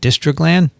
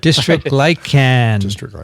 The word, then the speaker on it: dystroglycan: I said dystroglan? You left out the gly. Sorry. That's right. Dystroglycan. Mike Oldstone on the paper. A deletion. You inserted. You had a deletion. It wasn't framed. Deleted a syllable.